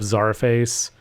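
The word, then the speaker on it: Czarface: highly recommend looking up Zara face um and yeah that's spelled like the old Russian Zar CZ a r face all one word uh so check them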